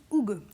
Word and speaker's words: hygge: Cela s'écrit H-Y-2-G-E, mais ça se prononce hygge. Et c'est danois.